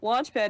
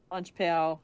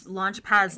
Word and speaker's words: Launchpad: And then, this made me laugh, Launchpad is largely ignored by Hooter, who is constantly mispronouncing his name. Launchpal, Launchquack, Stamppad, whatever.